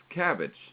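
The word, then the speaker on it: CABG: coronary artery bypass graft it's pronounced cabbage that's the surgery or cabbage the vegetable we get to look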